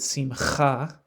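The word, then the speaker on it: שמחה: And then modern Israeli Hebrew pronounces it simcha, with a very strong het sound, the ch, which is characteristic of modern Hebrew.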